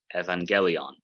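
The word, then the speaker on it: εὐαγγέλιον: That's why we have evangelion, the good news, not you as like the word euphemism.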